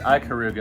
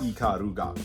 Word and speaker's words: Ikaruga: I've always called it Ikaruga. Am I saying it wrong? Yo, definitely. Yes. It's Japanese phonetics. Yes. Ikaruga. Yeah. What do I know? not Japanese. Right. So yeah, anyway, Ikaruga, which would be more